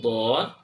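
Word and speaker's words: ض: Karena orang cenderung mengucapkan huruf dod dengan melakukan penekanan lidah di ujungnya.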